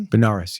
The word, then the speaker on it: Benares: The Smithsonian Institution awarded him a postdoctoral level research fellowship to study tabla in Benares. Did I pronounce that right? Benares, yeah.